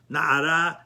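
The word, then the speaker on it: נערה: the in the masculine even though it's pronounced Nara and of course the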